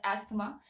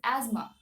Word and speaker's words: asthma: many people do pronounce it as asthma but the actual pronunciation of this word is Asma Asma Asma all right so these